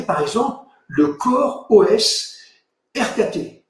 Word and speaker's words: rkt: exemple le corps os RKT il faut prononcer ça roquet il est très proche